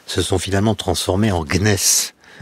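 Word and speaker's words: gneiss: sont finalement transformé en gnness ce que j'ai bien prononcé tout à fait tout à fait ça s écrit G n e I 2 S tout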